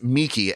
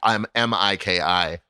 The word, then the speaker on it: Miki: His real name is Miki, Miki, but he has a nickname Mickey, and they do pronounce it differently.